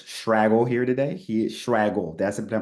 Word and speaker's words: Schwagerl: He is Schwagerl. Did I pronounce that right, Chris? Yeah, Okay, yeah. awesome. Schwaggle. It Swaggle. rhymes with bagel.